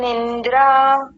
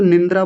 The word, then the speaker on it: निद्रा: ने हां पीछे जो निंद्रा बोला था निंद्रा नहीं होता निद्रा होता है। निद्रा रात को जो हम सोते हैं जो हमको नींद आती है उसको निंद्रा नहीं बोलते निद्रा बोलते हैं।